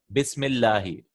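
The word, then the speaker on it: بسم الله: So if anything comes before that, we won't pronounce it. Such as Bismillahi.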